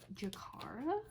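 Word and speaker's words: Jakarra: Alright, so I got Jakara. That's how you pronounce it.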